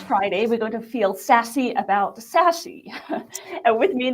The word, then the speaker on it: SASE: 15 today with you good all right so sassy pronounce sassy spelled s a e so we're going to